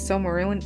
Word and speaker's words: Silmarillion: It's Silmarillion?